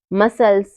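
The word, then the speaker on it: muscles: पर सी साइलेंट है science मसल्स seizures seen in सब में क्या है इन सब में एस के बाद हमारा सी आ रहा है तो सी यहां पर क्या हो रहा है सी यहां पर हमारा साइलेंट हो रहा है अगला रूल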